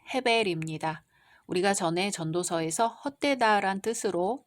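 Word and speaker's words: הבל: 이제 가인의 동생 아벨이 태어납니다. 히브리어 발음으로는 헤벨입니다.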